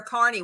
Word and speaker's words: Kearny: Somebody asked me about where Carney was. Okay, go ahead. It's in New Jersey, and it is spelled without the E at the end, Kearny.